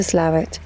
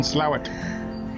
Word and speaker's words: Slaithwaite: We're in Slaithwaite. Or Slaithwaite, or Slough. It's pronounced Slaithwaite, but that makes no sense.